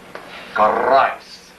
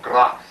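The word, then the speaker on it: Kharras: K-H-A-R-R-A-S. Charais, or Gras. Pronunciation. The difference of pronunciation.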